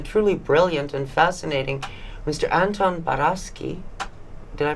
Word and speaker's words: Anton Baraschi: has been the truly brilliant and fascinating Mr Anton barasi did I pronounce that correctly absolutely perfect thank you and